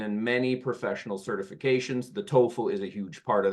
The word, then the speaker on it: TOEFL: tol my friends again I put here the International Phonetic Alphabet pronunciation tofl with that long o standardized English test that